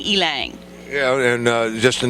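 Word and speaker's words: ylang: look it up to find out how to pronounce it it's elang y l a n g elang elang yeah and uh just a natural oil it's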